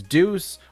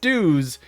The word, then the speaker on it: Deus: So if you say it Deus, it's right. If you mispronounce it as Dews, it is technically also correct.